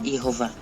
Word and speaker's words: Jehová: Bueno, yo no defiendo la forma Yahweh, pero si en todo caso me preguntas, el tetragrama se pronuncia Jehová.